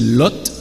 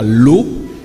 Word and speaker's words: Lot: seigneur une petite parenthèse vous m'avez entendu prononcer lot et c'est correct ce n'est pas l'eau si vous avez certaines traductions comme parole de vie ou la nouvelle bible se gonfle la bible du summer vous verrez que l'orthographe choisi pour ce nom c'est elle oth donc le thé n'est pas muet il faut bien le prononcé des choix qui honore